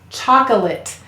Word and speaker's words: chocolate: you hear the it remember any vowel may say one of its schwa sounds up or it that lazy vowel sound in an unstressed syllable here it sounds a bit like it but it's choco ate chocolate excellent great work today combining